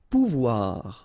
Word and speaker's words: pouvoir: Remember, when you combine this O and U, you get the sound OU, okay? And when you combine this O and I here, you get the sound OUA, okay? So, pouvoir, pouvoir. Aller, okay?